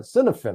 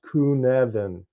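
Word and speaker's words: Cynefin: an English standpoint or standpoint we call it cinen right c y NE f i n copen but it's actually pronounced kunan and by the way I've heard more people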